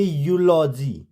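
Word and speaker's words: eulogy: जाएगा next rule है जब किसी वर्ड में ई यू क्या आए ई यू आए तो ई यू को यू से पढ़ते हैं मींस यू से प्रोनाउंस करते हैं क्या होगा ई यू जैसे ई यू एल ओ जी वाय तो हम इसको यूलॉजी नहीं पढ़ेंगे हम इसको पढ़ेंगे यूलॉजी यूलॉजी ई यू आर ओ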